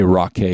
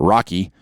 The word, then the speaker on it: Rockay: And I'm going to say Rockay because it's rock, Rockay. So I'm not going to pronounce it Rocky, right?